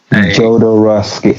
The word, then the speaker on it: Jodorowsky: Jodorowsky.